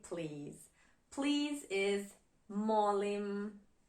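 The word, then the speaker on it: molim: Please is mim. Mim in Croatian.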